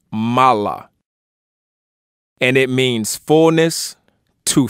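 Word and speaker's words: מלא: with the word that's spelled in Hebrew as MIM lamid Al and this is often pronounced Mala and it means fullness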